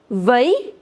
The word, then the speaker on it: veuille: Veuille, veuillons, veuillez. Veuille, veuillons, veuillez. If you have ILL together, you don't pronounce double L in French. So this double L would be silent in all these 3.